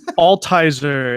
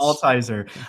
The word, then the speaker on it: Altizer: Altizer. It's German, so it's yeah, it's Altizer.